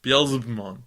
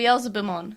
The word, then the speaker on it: Beelzebumon: Beelzebumon. Yeah, with the B. Beelzebumon. Beelzebumon. Yeah, Beelzebumon, because it's Beelzebub.